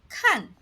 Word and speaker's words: 看: 看 has two pronunciations: kàn (the most common) and kān (meaning “to guard” or “to look after” — like in 看孩子 or 看门).